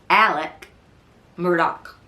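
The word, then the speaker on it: Alex Murdaugh: you would call him alec murdoch so it's a southern pronunciation but when you see it written it looks like alex murdoch um alec has been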